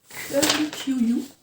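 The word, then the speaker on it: Curly Ewe: Donc c'est le Curly QU, je crois. Oui, donc ça s'écrit E-W-E, mais on est U.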